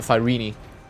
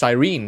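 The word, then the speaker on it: Cyrene: Um I don't know why they call it fyini in the game. That's it's just sirene. That's how it's spelled.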